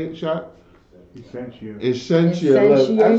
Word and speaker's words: Essentia: Increasia.